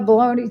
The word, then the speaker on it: bologna: I love baloney, too. I just had to sing it to spell it.